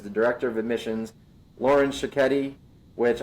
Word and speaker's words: Sciocchetti: Director of Admissions, Lauren Sciocchetti, which I learned how to pronounce her name when she told me it rhymes with spaghetti.